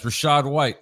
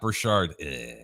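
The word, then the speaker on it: Rachaad White: Berger says Rashad White, not Brashard.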